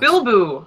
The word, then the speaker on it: Bilbo: It's pronounced Bilbo. I was pronouncing Bleeboo.